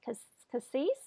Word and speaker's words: Cassis: I was going to try to meet you last year in the seaside town, Cassis?